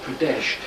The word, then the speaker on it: Pradesh: um and it's in medya or remember it's pronounced pradesh now this place is very famous for its